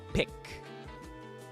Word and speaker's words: Paik: Alright, so if you look here, it says Paik. Ang tamang pagbigkas niyan ay pick.